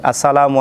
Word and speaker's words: আসসালামু: সাল্লাল্লাহু আলাইহি ওয়াসাল্লাম বলছেন আসসালামু এর গুরুত্ব যেমন হামজা ও মিমের পেশ স্পষ্ট করে উচ্চারণ করতে হবে সালামের উত্তর শুনিয়ে দেওয়া